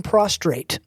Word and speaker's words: prostrate: Laying prostrate. Okay. Not to be confused. Thanks for pronouncing the R.